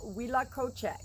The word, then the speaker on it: huitlacoche: also known as mexican truffle and it is pronounced wila coche cornsmod has been used in both north and